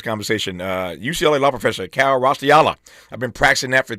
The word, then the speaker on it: Raustiala: UCLA law professor Kal Raustiala. I've been practicing that for 2 weeks. Raustiala. That's how you pronounce it.